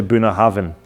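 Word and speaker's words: Bunnahabhain: buah haben but it's actually buah Haven the B and H together actually make a v sound this Isa distiller's name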